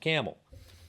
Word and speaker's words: Campbell: Family pronounced it camel.